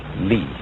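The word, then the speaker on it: 理: wood or the fiber and muscle and it's pronounced knee this is a character then meaning really the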